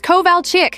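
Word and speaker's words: Kovalchik: It's Koval Chick, she shouted, slamming her hand on the desk. K O V A L C H I K.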